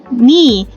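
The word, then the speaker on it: knee: i i gu dia ni jangan dibaca knya ya jangan dibacakannya hanya ni gitu aja eh terus ada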